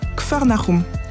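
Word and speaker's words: Kfar Nahum: général de son ministère en hébreu kernaum veut dire village du réconfort on le prononce kfarnarum quel endroit idéal pour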